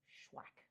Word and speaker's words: SHUAC: I always want to say accepted which is also true and connected and those things spellwack and it's pronounced schwack like have you swacked someone today or has someone you